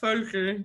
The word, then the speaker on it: Völkl: my name is ferger that's a very german pronunciation i've been a magento